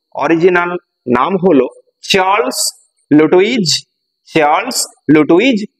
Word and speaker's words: Lutwidge: Original নাম হলো Charles লুটুইজ Dodson, লিখে দিচ্ছি original name, original name of the author, কি? Charles, CHARLES, Charles লুটুইজ, LUTWIDGE, লুটুইজ Dodson, DODGSON। উচ্চারণটা ভালো করে খেয়াল রাখবে, লুটুইজ, লুটুইজ এখানে ডিটা সাইলেন্ট আর ডডসনের জিটা সাইলেন্ট,